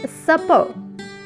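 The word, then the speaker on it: supper: This word is सपर, सपर। इस word के एंड पर आर साइलेंट है। सपर, रात का खाना।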